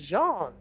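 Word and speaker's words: Jeán: name though friend again it's John and how do I spell that friend oh uh j e a n and there's like a little accent over the a friend of mine told me that that's how you get the Jean sound and I liked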